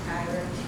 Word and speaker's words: Takira: First of all, I'd like to say, pronounce my name Takira.